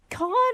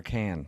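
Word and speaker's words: Cannes: Can I ask is it con or is it the can film festival?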